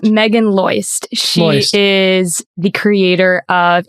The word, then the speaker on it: Meagan Loyst: Am I pronouncing that Yes, correct? Meagan Loyst.